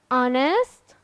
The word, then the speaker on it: honest: pronunciation pronunciation letter h letter H in some words becomes becomes silent I don't pronounce h in these words like what H here will be silent letter when why our honest honor so H here will